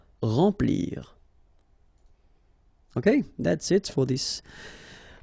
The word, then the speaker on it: remplir: Okay, M nasal, remplir.